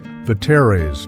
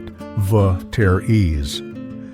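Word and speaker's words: Vetere's: If you grew up in Ontario in the 80s and early 90s, you knew the name Veres, not Vteries. Say it right.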